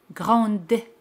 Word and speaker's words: grande: Pero si es femenino, se pronuncia D al añadir la letra E. Grande.